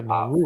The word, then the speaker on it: Nauru: Nauru. Is that how you Nauru. say that one? Yeah, Nauru.